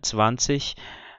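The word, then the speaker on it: zwanzig: Então, resumindo o vídeo agora, existem 3 pronúncias possíveis para o encontro IG, como na palavra 20 em alemão, mas só uma delas é considerada padrão, que é aquela pronúncia do CH de ich, né?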